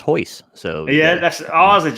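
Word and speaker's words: Royce: you got portuguese uh the man spells his name r-o-y-c-e it's pronounced hois so yeah that's ours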